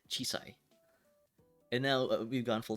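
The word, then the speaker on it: 小さい: own it's basically uh uh uh chi Chi chisai yeah oh man I was like it was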